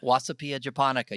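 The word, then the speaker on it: Wasabia japonica: name of the wasabi is wasabi and japonica wasapia japonica you grow that you're not growing arugula no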